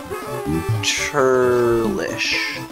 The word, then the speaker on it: churlish: Churlish. Rhymes with delish.